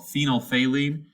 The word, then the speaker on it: phenolphthalein: use constantly in chemistry it's called phenylphaline that's how you say that word there i know it